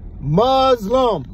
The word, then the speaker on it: Muslim: Muzlum. That's how you say it.